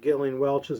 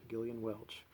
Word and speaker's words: Gillian Welch: think i want um galen welch's new one um all the past good times are passed and gone it is pronounced gillian with a hard g gillian welch and this came out